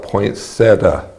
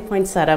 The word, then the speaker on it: poinsettia: has a different pronunciation i call it poinsettia okay i say poinsettia but some people i know say poinsettia right but apparently it can be either or the dictionary says either or we don't need to get